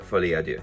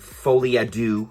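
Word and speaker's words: Folie à Deux: and I saw Joker F ad do now that is also how you say it not fly ad do all you americ amans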